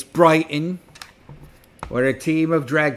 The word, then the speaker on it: Brighton: It's Brighton, where a team of drag queens intercepted them.